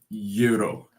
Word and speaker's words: gyro: the protein and um Greek food pronounced Euro Euro yes John Tron made a